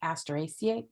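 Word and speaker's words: Asteraceae: in the industry so I'm of a mind that you pick the one that you're comfortable pronouncing I'm going to go with asteraciate that makes sense to me the genus for the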